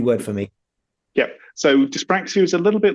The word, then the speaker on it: dyspraxia: Well, my daughter is awesome, but from an early age in school, she was diagnosed with dyspraxia, which is like a dyslexia but with coordination.